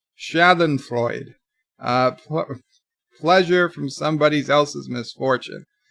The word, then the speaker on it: Schadenfreude: TV Chris says sorry it's pronounced schadenfreude pleasure from somebody's else's